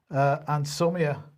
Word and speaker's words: anosmia: So from today, all individuals should self-isolate if they develop a new continuous cough, a new fever, or anosmia, if that's how you pronounce it, anosmia, sorry, I do apologize, right?